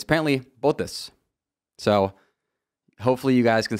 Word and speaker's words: Bottas: 4 months for saying Bottas, kind of like, you know, the American way, I guess, of saying it, Bottas, but it's apparently Bottas.